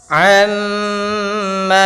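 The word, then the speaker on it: عمّ: Amma yatasaalun. Amma ditahan dahulu suara ammanya.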